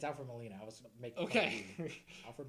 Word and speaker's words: Alfred Molina: Alfred Milani. You just said Molina. It's Alfred Molina.